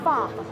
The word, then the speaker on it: pho: Michelle, we're making Vietnamese beef stew, or pho. P-H-O is how it's spelled.